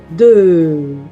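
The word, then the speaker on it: deux: 2. Eu não pronuncio esse X. 2. E agora? Com o vogal eu digo 2 euros. O somzinho de Z.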